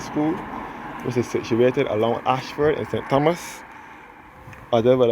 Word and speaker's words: Ayshford: which is situated along Ashford in St Thomas other would have said before this Ashford is spelled a y s h f o r d this is RO leading